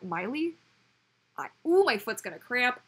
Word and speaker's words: Miley: Well, because the instinct would be to pronounce it Meili, right? But Miley?